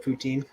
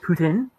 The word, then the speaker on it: poutine: Silox the Mighty about poutine. Fries and that your poutine. Oh my god, it's next level shit, man. So that's how you say you pronounce it, Putin? Poutine. Poutine.